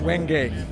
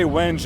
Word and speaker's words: wenge: know how to pronounce Wenge. It depends on where you are. Some people do say wenge, and if you're in certain places, that's actually correct. But most places I go, people say wenge.